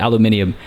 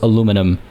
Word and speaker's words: aluminium: They did spell it aluminium. I was so aluminium versus aluminum. I say aluminium. It's what I've been raised on.